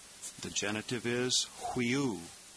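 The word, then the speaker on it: υἱός: Number 17 is the word huios. You see the rough breathing mark over the diphthong upsilon iota. And we'll pronounce that hui, almost like the Q-U-E-E-N in queen, hui, hui, huios. The genitive is huiou.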